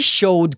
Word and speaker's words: showed: pronúncia pra palavra showed no presente a pronúncia é show no passado tem o Ed no final e o som realmente é de D então a pronúncia correta é show me showed Carlos May mostrou a